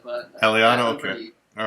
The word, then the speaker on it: Aliotta: Usually we pronounce it Aliotta, but... Aliotta, okay.